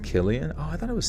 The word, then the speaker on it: Cillian: __ ] Hadi badati oh it's actually pronounced Killian Oh I thought it was silly in Murphy Steve-O when he